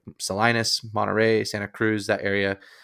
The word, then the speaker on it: Salinas: There's a city there's a city with the singular spelled the same way in Utah called Salina. That's probably why I say it's Salinas. But in California, the city there is called Salinas.